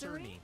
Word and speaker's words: Cerny: You know, the head of Mark Kearney came out today, and he said that Madam, 30 I believe FPS is janky. I believe it's pronounced Cerny.